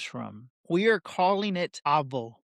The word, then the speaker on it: AVO: We are calling it Avo, pronounced Avo.